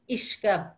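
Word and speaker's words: uisce: Another word is, the word for water is ishka, ishka. Actually, you know the word whiskey in English? Mm-hmm. That's derived from the word for whiskey in Irish is ishka baha, the water of life, ishka.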